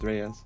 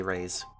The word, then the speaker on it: Reyes: I think it's pronounced Rays. Fifth. Is it Ray? I thought it was Ryz. That's definitely Rays.